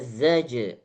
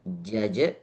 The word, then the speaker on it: زجرة: Bukan jaja, bukan jaja dan juga bukan jaza, bukan. Zaja. فإنما هي جزرة واحدة. Masih di Masih za-nya lebih ditekan. Z. Zaja. Zaja. Dimulai dari huruf Z. Zaja.